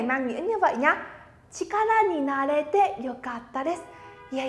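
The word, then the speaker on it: 力: Sẽ đọc là chikara, âm vô thành này, nhớ nhá. Chikara, minasan sẽ nó chikara.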